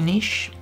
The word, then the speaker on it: niche: one niche i say niche some people say niche i'm not a linguist but that doesn't quite sound right to me however i like the fact that it rhymes with rich because that's where it's